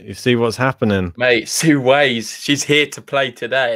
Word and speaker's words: Hsieh Su-wei: So Nathan there saying it's pronounced Hsieh Su-wei. Hsieh Su-wei.